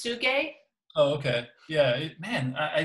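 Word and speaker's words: Tsuge: i think it's pr i think it's pronounced suge oh okay yeah man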